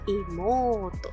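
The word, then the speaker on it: 妹: Igual les voy a dejar abajo en la cajita de descripción el video que habla sobre las largas pronunciaciones. Entonces, Ototo, hermanito. Hermanita, Imoto, también largo.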